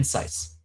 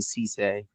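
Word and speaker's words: Cisse: Um what do you think about Brandon Saice? I apologize if I don't say his name correctly. Um I've never been able to pronounce it, so sorry. C C C R R is saying C Saice.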